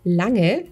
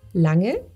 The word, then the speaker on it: Lange: And then the NG is, I think, a bit tricky. So, it's Lange. It's very soft. Lange. Lange. Lange. Very good. So, A, Lange.